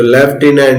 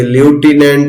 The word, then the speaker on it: lieutenant: तो लेफ्टिनेंट, ये ल्यूटिनेंट नहीं है, लेफ्टिनेंट पढ़ना है।